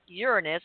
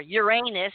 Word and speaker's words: Uranus: that there's something about Uranus or Uranus and that's what how Erik wants me to pronounce it uh implicates a possible